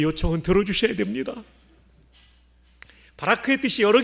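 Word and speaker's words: ברך: 송축한다는 단어는 히브리 말로 바라크예요.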